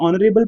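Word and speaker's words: honorable: एंड ऑनरेबल लिखा है लेकिन हम इसको ऑनरेबल तो नहीं पढ़ रहे ना क्योंकि शुरू तो एच से हो रहा है लेकिन एच यहां पे क्या है? साइलेंट है। तो इसीलिए यहां पे ऑनरेबल हम नहीं पढ़ते। ओनरेबल पढ़ते हैं और शुरुआत में ओ हो हो रहा है।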